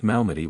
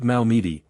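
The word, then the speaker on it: Malmedy: Units mentioned were accurate, but Hollister noticed Mitchell pronounced Malmmedi with French precision. Most American soldiers butchered Belgian place names. They said Malmeidi, anglicizing it completely.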